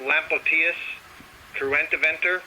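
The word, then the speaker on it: Lampocteis cruentiventer: I was saying, I think that's pronounced Lampoictus cruentiventer.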